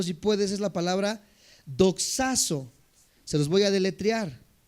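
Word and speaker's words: δοξάζω: La palabra glorificar en el original griego, apúntalo si puedes, es la palabra Doxazo, se los voy a deletrear. D de dedo, O, X, A, Z, O y acento en esa O. Doxazo, glorificar.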